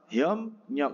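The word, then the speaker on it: 협력: dengan ni kan menjadi aslinya kan hop riok tapi apa menjadi hop nyok nah endingnya Bacanya apa Hom nyok karena bep ketemu dengan n udah jelas bep menjadi m kayak IP Nida kan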